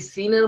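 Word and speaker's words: سين: আচ্ছা সিন এবং শিন উচ্চারণ বোঝার জন্য আমাদের যে বিষয়টা জানতে হবে, সিন উচ্চারণ করার সময় আমাদের মুখ থেকে এক ধরনের আওয়াজ বের হবে, এরকম একটা সিটির মতো আওয়াজ বের হবে।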